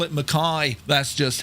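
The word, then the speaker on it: Mackay: McKay is pronounced Mai. I was thinking that the old Australian, right? And on today's flight, we're going to head up to Mai, right?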